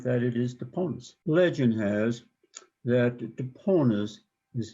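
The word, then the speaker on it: Toponas: Toponus, and it has been pronounced many ways, but that is the correct one. It's not Tapionis or something like that. It is Toponus.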